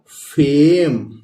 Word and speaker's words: fame: इसी तरह FAME, तो यहां भी ई आया है, आप लोग दोस्त देख रहे हैं दोस्तों, और यहां ए बीच में आया है तो इसलिए ये हो गया फेम। ए प्रोनाउंस करेंगे हम यदि